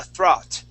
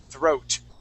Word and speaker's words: throat: it is okay so here you had said uh throt okay using more of an a sound the O A is kind of just like boat okay we're gonna pronounce an o sound throat try that throat there